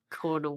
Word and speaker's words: colonel: Apparently, it's because it used to come from the Spanish term which was coronel because it's an officer of the crown and it's sort of I guess mush. But then it should be called coronel. C O R O N. Why is the L letter there? It's dumb. Cornal.